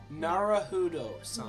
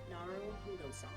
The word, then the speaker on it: Naruhodo: Is it, how do you pronounce it? Naruhodo-san. No, Naruhodo-san.